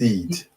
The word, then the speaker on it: Eid: Say Eid or I? It's Eid. Eid. Okay. Eid.